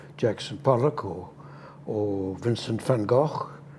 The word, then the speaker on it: van Gogh: Pollock or or Vincent van Gogh I pronounce it Van Gogh the the the Dutch way that he would have pronounced it not Van Gogh uh the um the